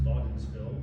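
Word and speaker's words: Wädenswil: But back to the first 5 acres, the clones that I chose in '97 were Waddensville 2A, would be pronounced Waddensville.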